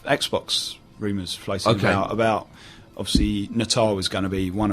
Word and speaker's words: Natal: It is really, Natal is how it's pronounced.